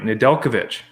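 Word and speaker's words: Nedeljkovic: of capri zones in here and i did pronounce his name right nadelkovich good man yes give yourself a win that's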